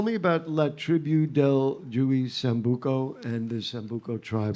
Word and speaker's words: Juey: pronounced with like a J, like an H. Yeah. H. Okay, H. sorry. The J sounds I like should an have H. asked you beforehand. Juey Sambuco. Okay. Juey.